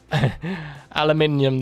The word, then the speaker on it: aluminium: of, on my channel where aluminium, that European pronunciation, yes. Yeah, I live in Scotland in the UK, so yeah, it's just how I say it.